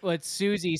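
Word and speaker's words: Siouxsie: But it's Susie spelled SIOUXIE, right?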